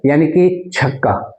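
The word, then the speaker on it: eunuch: तो यूनक यूनक का प्रोनाउंसिएशन क्या होगा? साउंड क्या होगा? कैसे इसको बोलेंगे? चनक तो यूनक में य से हम बोल रहे हैं तो ये कसोनेंट साउंड है।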